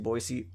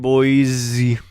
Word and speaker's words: Boise: But then again, it's like lazy Southerners pronouncing Boise, like Boise. Boise. Like It's there's no Z in there, motherfucker.